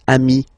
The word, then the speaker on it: amis: So singular form ami, plural form you add this S, but it's ami as well.